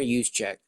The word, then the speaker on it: Juszczyk: Connor Juszczyk. I know how to pronounce that because the 49ers fullback.